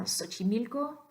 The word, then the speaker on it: Xochimilco: seal off on now Xochimilco indigenous word from latin america that initial x also makes an S sound such a neat ago